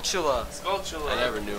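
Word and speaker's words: Skulltula: we're on a gold sculpture line it's not sculptula it's called Chula I never knew how to pronounce it can't you find two of them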